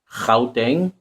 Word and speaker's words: Gauteng: So the G is pronounced as Gauteng.